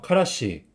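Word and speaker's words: からし: 카라시. 네, 카라시. 다음은 이거는 유자 후추라는 소스입니다.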